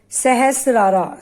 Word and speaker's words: Sahasrara: And the meaning of crown chakra in Sanskrit, or the Hindi pronunciation, is Sahasrara.